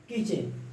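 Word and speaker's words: kitchen: Batch, catch, match, किचन, ऐसे करते हैं। Batch, T silent.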